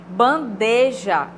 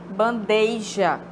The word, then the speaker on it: bandeja: não é freada Ok bandeja bandeja e aí o que a gente ouve bandeja como se tivesse eu ia aí no caso não tem